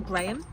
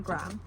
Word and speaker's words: Graham: So it's read by Lauren Graham is her name, and I've been saying Graham because that's how I would naturally say that word, but she knows how to say her own name, so it's Lauren Graham.